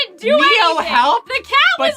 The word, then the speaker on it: Neo: Neo rhymes with hero.